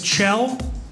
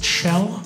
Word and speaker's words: Kjell: My name is Chell, spelled K-J-E-L-L, pronounced Chell.